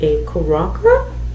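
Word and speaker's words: Koyroca: This one is in the shade K-O-Y-R-O-C-A Karaka. Maybe the Y is silent, we'll figure it out.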